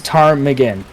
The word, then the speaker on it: Ptarmigan: yeah that is the Tarman um that is how you say it yes it's Tarman so the p is silent yeah so yeah um